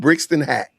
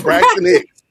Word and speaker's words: Braxton Hicks: Brixton Hack. What's it? What's the Brixton Hicks? Braxton Hicks.